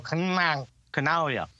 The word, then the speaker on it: Canaglia: And like, just instead of saying the G, stick your tongue on the top of your roof and go, Canaglia.